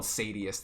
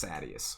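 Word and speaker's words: Sadeas: think after sadius who i called sadius the whole time another name that i was mispronouncing the whole time i was thinking you know like habeas corpus sadius but apparently it's sadius whatever sadist is a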